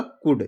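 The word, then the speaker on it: could: इसको पढ़ूंगा कुड। जो यल है क्या है?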